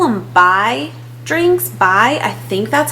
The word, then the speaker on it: Bai: Bai, I think that's how you say it.